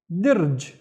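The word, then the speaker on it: درج: Next one, I see only one vowel in here, so the entire word is only one syllable, and this would be dirj.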